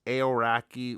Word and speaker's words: Aoraki: I looked it up and I think it's pronounced aoraki which is the name of the tallest mountain